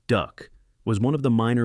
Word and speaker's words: DUKW: The DUKW, pronounced duck, was one of the minor miracles of wartime engineering.